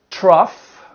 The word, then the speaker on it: trough: Trough.